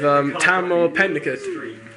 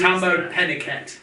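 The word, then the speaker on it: Tahmoh Penikett: I've gone with Tamar Pennicott. With who? To be fair to him, I couldn't even pronounce that name. It's Tambo Pennicott.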